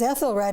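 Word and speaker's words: Æthelred: me explain about the the term unready because Ethel R now he really would have been a would have been pronounced that way and the red part of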